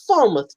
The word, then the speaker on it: Falmouth: I say Falmouth University, but the British say that's not how we say it. It's Falmouth, Jimmy. That's Falmouth.